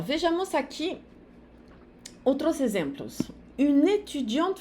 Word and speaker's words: étudiant: Une étudiante française, uma estudante francesa. Enquanto no masculino vai ficar un étudiant français. O T de étudiant e o S de français não se pronuncia.